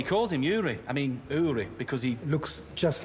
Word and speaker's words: Uri: It's pronounced Uri.